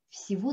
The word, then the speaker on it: всего: les deux, on dit всего доброго, всего доброго. Vous voyez? Ici, si vous connaissez les lettres russes, c'est G, G, mais on prononce V.